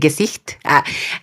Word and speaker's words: Gesicht: el de amistad no el de gesicht pronunciado en alemán es así si lo quieren pronunciar en español si es como gesit o ges pero ges ah